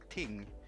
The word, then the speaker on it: ting: about the ting ting the way you pronounce that in Swedish is ting and it means things